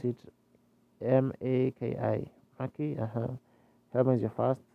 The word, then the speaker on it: Maki: You pronounce it M-A-K-I.